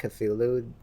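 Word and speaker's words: Cthulhu: __ ] like cthulu you're supposed to say his name like different every time because that's he it's like spelled differently like they they give examples of how to say it differently but everyone just sticks to cthulu oh like culu or whatever yeah which is like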